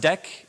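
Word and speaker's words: deque: from the front in constant time so it's pronounced deck it's spelled DQ and this is the data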